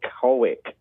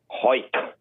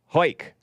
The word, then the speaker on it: Hawick: So the town is spelled Hawick, and people try to say it's Hawick, but it's not. It is Hawick. Hake.